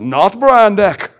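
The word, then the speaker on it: Not Brand Echh: It was a Marvel parody comic, but it has to be pronounced correctly because if you see it on the cover, it's Not Brand, E-C-C-H-H, exclamation, exclamation. But it's pronounced Not Brand Ek because the old commercials, here we have Brand X and Not Brand X.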